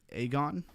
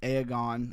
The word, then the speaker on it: Aegon: Aegon. Aegon. Makes me want to say Aragon, but there's no R in there. Oh, it was launched today.